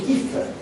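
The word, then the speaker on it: Kupffer: Kupfer se escribe, se dice Kiefer.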